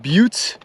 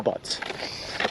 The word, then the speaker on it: Butte: I just Googled it and the pronunciation is pronounced Butte uh you sir are wrong all right all right I will concede I will continue to call them butts um just for UT I know it's pronounced